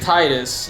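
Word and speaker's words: Tidus: it titus or titus you pronounce it titus you pronounce you spell it t-i-d-u-s yes uh it is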